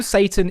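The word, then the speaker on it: שטן: It's pronounced Satan in Hebrew. It's a Hebrew word. And I wanted to talk to you about who Satan is from a Jewish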